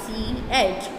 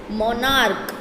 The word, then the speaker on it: monarch: You pronounce this word monarch. Here the word's pronunciation is monarch. What? Monarch. So here ch is there, but here ch pronounces k.